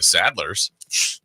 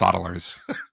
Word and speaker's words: Saddlers: I'm not picking the Saddlers. Huddersfield Town. That's right. It's actually pronounced Soddlers.